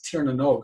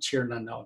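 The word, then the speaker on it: Tír na nÓg: No, but it's this Tírnanog, and it's Tírnanog, it's not Tírnanog.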